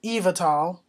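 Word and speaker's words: Yveltal: wise um name is Eva tall it's pronounced uh it's spelled y v e so that's uh something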